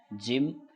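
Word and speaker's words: gym: वाई आई तो तो भी जैसे करते हैं उच्चारण जी वाई एम ई जिम जी ओ डी गॉड जी यू एम गम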